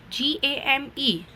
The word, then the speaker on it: game: GAME, it pronounced GAM, right? GAM, E is silent, so game.